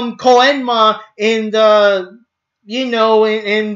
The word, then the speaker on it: Koenma: You're lucky he was actually called Koenma and not Koyema, since Emma was called Yema in the other dub.